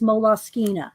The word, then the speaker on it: Moleskine: you want to say i did look it up though actually one day to see how they pronounced it and it is moloskina not that i care